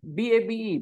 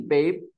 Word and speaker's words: babe: all right babe so e doesn't have a sound in English but in other languages